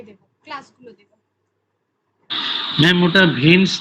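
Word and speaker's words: Vance: বাংলায় উচ্চারণ ভান্স হবে, ভান্স হচ্ছে করেছে, মানে ভান্স করেছে।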